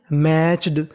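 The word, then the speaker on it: matched: कहने का मतलब अगर आपको इंग्लिश में कहीं पर टी सी एच एक साथ लिखा मिले तो आपको टी सी एच का उच्चारण करना है चा और ई डी का करना है डा, तो मीनिंग बनी मैच्ड।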